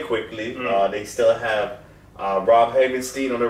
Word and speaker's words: Havenstein: Havenstein?